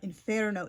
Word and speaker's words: inferno: going to say, "Oh, don't say inferno. It's inferno." Like I understand most people aren't like going to like use the authentic Italian pronunciation, but like if you're like just Yeah. curious. Yeah. inferno is how you say it in Dante's original Italian and the name of the book.